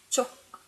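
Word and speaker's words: 쪽: are easy, but unfortunately that one, the pronunciation is quite similar. So for saying side, it's chok, chok, and for saying straight, so to go straight, is chuk.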